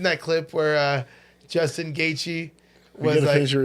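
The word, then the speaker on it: Gaethje: the guy was like Justin gachi or GE or said something and then he's like it's gatei the guy's like I have people for this I know how to pronounce it and he's Justin's like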